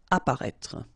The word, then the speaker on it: apparaître: Okay, so exactly the same situation here with this circumflex. You don't pronounce it. Remember to write it, but you don't pronounce it. Apparaître.